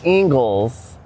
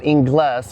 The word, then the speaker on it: Ingles: This is Ingles, not Inglass.